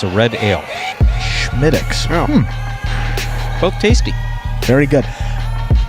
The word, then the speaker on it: Smithwick's: And Schmittix is how it's pronounced. It's written Smithwick's, but the Irish pronounce it Schmittix. It's a red ale. Schmittix.